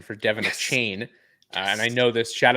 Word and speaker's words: Achane: That was the correct pronunciation for Devin Achane.